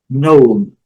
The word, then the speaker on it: known: Duas sílabas, foreign. Known, known.